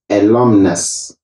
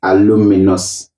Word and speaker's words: alumnus: as a singular word the singular form of alumni is alumnus and that too people say aluminus aluminum it is wrong